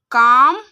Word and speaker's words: calm: तो देखिए जैसे वॉक काम हाफ टॉक बाम साव ई भी मोस्टली साइलेंट रहता है।